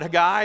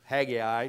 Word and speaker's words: Haggai: look at here remember the prophet a guy or haggai depending on how you like to pronounce it he would have been